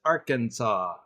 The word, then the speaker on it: Arkansas: it as Aransas just because that's the way it's spelled but it's Arkansas could be because I don't know but it could be derived from French because this was Arkansas is in what was originally part of Louis